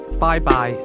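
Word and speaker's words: 拜拜: Bye-bye. Bye. Bye. Bye-bye. Bye-bye. That's pronounced with high and mid-level tones.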